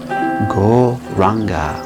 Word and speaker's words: Gauranga: practice that is called gauranga breath meditation where we add a mantra to our breath this holy names 12 breaths and the mantra we'll be using is gol ranga is divided into four syllables go raw simple